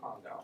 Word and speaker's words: condyle: It's going to be like, oh my goodness, this is a 62-year-old female with medial aspect of the medial femoral condyle.